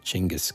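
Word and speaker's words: Genghis: of books about uh gask Khan who technically speaking I think you're supposed to pronounce it chingas Khan oh really yeah uh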